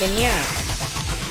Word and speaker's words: ennui: Was I trying to pronounce Inui? Yes, I was trying to pronounce Inui. And I understand now that it's pronounced Inya.